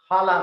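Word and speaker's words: Jala: name of this maze hala makes it's pronounced as j in spanish j a l a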